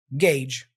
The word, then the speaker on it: gauge: be uncommon for many the sound is similar to Age but with a g at the beginning so think of age and add a g Gage gagee that's how you pronounce this word okay so the tip is think of the word as gauge with an extra G practice with other words